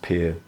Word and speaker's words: Pierre: I remember when I drove from Denver, Colorado to Pierre, South Dakota. It's spelt Pierre, but it's pronounced Pierre.